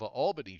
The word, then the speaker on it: Albany: and that's north of albany georgia they pronounce it the same way as albany new york so there you go